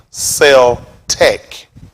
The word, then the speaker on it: Celtic: Let's see if we can see how the word pronounced, because it's actually pronounced Celtic. Celtic will refer over to the Germans. The word is not Celtics. The crackers played y'all. The word is Celtic.